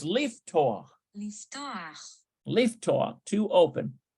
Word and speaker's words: לפתוח: Oh, it's leaftoch. לפתוח. Leaftoch, to open. Note that even though the additional vowel is marked patach under the last letter, its pronunciation precedes that letter.